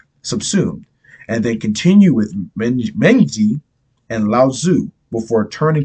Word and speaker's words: Mengzi: But I know how to pronounce out Lao Tzu and Sun Tzu, just Mengzi, because it's spelled M-E-N-C-I-U-S. So I was thinking Mencius, you know, because we're weird.